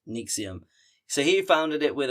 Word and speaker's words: NXIVM: And this is where we get to 1998 where Renier co-founded Nixium or NXVM is how it's spelled it, but it's pronounced. Nixium.